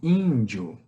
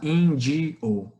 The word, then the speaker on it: índio: Índio, né? A gente não fala indio, a gente não pronuncia assim, a gente pronuncia índio.